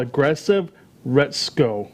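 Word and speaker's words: Aggretsuko: about it till recently learning more it's called aggressive Rhett's KO is the pronunciation for it's a Japanese cartoon that's on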